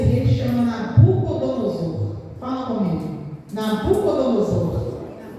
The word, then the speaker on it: Nabucodonosor: E a Bíblia, ela fala que esse rei, ele tem até um nome bem difícil de pronunciar. O nome desse rei chama Nabucozor. Fala comigo. Nabucodonosor.